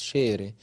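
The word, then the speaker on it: ⲭⲉⲣⲉ: الحرف الاولاني احنا عارفينه، هو ده من يعني من الحروف اللي ليها كذا نطق في اللغه القبطيه، اللي هو شبه الاكس الانجليش، لكن هنا هننطقه شين اس اتش.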